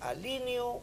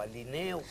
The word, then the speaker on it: alineo: negocio o negocio bueno en el primer caso es alineo y no alineo que es producto del influjo de línea pero en este caso se dice yo alineo tú alineas é alinea nosotros alineamos no yo alineo tú alineas